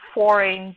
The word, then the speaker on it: foreign: Wednesday as Wednesday, yes, and foreign, they might pronounce the G.